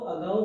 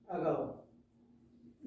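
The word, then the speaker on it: ago: एक आता है एगो, इसका जो प्रोनाउंसिएशन होता है वो अगाउ होता है, अगाउ।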